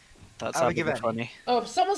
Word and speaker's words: Abergavenny: There's literally no TH at the end. What are you on about? Abergavenny. Thank you. Abergavenny. That's Abergavenny.